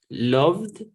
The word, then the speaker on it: loved: Si yo lo encuentro así, miren cómo lo estoy escribiendo. ¿Sí? Loved es la pronunciación correcta. No se confundan por el ed, loved.